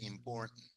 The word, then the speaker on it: important: Me gusta que entiendan perfectamente important, important, important. Si lo pueden decir, mejor. Important, important. Porque no pronunciamos esa T, llegamos a la R, import, y después el sonido de la N, el sonido.